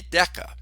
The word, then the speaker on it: deca: 10 would be deca. Well, think of this. What do we call 10 years? A decade, a hard C sound. Decade, like deca, whereas a tenth of something would be a decimal or a deci.